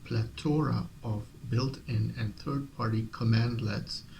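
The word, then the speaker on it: cmdlet: Combine that with plethora of built-in and third-party commandlets, pronounced commandlet, that can be filtered, sorted, and piped together, and you have the ultimate acquisition engine.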